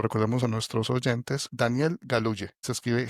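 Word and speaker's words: Galouye: El escritor se llama, para que lo recordemos a nuestros oyentes, Daniel Galuye. Se escribe G A L O U Y E.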